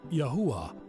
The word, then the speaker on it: Yahweh: father's name is Yahweh in modern Hebrew it is spelled yod yuah and pronounced as Yahweh very simple very powerful the savior's name in